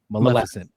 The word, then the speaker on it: Maleficent: Maleficent.